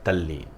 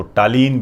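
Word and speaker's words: Tallinn: ठीक है, तल्लीन। आप इसको टालीन भी कह सकते हो, यही है टालीन, तल्लीन, बस प्रोनाउंसिएशन होता है दोस्तों ये। क्लियर? तल्लीन भी बोल देते हैं, ये टालीन एक ही चीज़ है।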